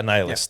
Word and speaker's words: Annihilus: Yeah, Annihilus. Thank you. That's that's the proper way of pronouncing it.